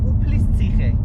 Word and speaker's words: Uplistsikhe: Uplistsikhe.